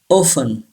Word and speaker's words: often: call brother pile wrong a can hear and pronounce saga congratulate say this word congratulate number six often say this word often this are should be silent and pH gives